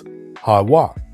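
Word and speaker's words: יהוה: Again, there's no V in ancient Hebrew, but W, so it's YaHaWah.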